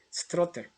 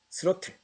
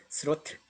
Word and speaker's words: 스로틀: 스트로틀. 이 배터리를 활용해서 조종사가 원하는 동력을 여기서 얻어낸다는 것이죠. 그래가 조종하는 것을 말한다. 조종장치. 여기서는 정답이 스로틀. 좀 발음이 익숙하지 않아서 스트롤을 했는데 스로틀. 정답은 1번입니다.